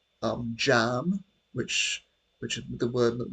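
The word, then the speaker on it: cam: But um that comes that's that's pronounced jam.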